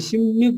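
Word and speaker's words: 십육: यो वास्तवमा यसको यो सही तरिकाले गर्ने हो भने चाहिँ सिम्युक गर्छ के कोरियनहरुले, सिब्युकलाई चाहिँ सिब्युक नगरिकन सिम्युक गर्छ है।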